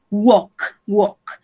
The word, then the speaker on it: walk: wok walk the dog recuerden que este verbo tiene una pronunciación especial wow wow vamos a decir ayer